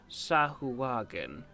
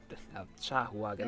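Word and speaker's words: sahuagin: shark like fish creatures I think they're called sahu wagen and um sahagan that kind of could you spell that could you spell that uh s a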